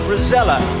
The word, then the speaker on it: Rozalla: It's written Rozalla. It's pronounced Rozella.